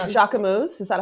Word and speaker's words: Jacquemus: And even like Um, Jacquemus, is that how you say it? yes, I want one of, Jacquemus.